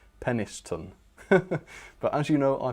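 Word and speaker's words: Penistone: Um but yes as Lapis Wake says it is not pronounced well it might not be pronounced how how I say it. He says it's pronounced peniston.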